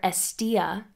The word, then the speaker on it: Εστία: Hestia, or Hestia in Greek, literally means hearth, as well as focal point or center.